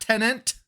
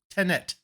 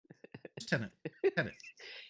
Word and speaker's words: Tenet: Not Tenant. There's not two T's, just Tenet. I hear so many people say Tenant. Tenet.